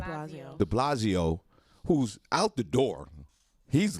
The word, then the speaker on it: de Blasio: That Mayor how you pronounce his name? Blasio. De Blasio, who's out the door, he's leaving.